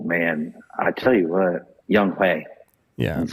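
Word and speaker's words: Younghoe: Young-Ho Koo. Oh, man. I tell you what, Young-Hae. Yeah. That's how it's pronounced.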